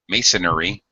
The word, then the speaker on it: masonry: terrible uh okay Ken don't say Mason masonry masonry that sounds weird what should you say Mason masonry it should be three syllables Masonry what is masonry